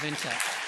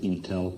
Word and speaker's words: Intel: Leader Award goes to Andy Grove, former Chairman and CEO of Intel.